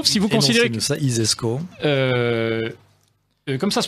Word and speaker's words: ISESCO: i alors l'isesco si vous considérez que ça isesco comme ça se prononce ainsi donc si vous imaginez le celi